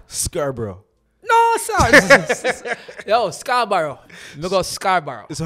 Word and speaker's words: Scarborough: somehow said this wrong then Scarborough oh that's very wrong try one more time Scarborough Scarborough Scarborough look at Scarborough